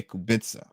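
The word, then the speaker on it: Kubica: Robert Kubitza. Yeah, Kubitza. I always want to say Kitza.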